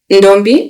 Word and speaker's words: Ndombi: He's famously known as the Ndombi. Am I pronouncing it right?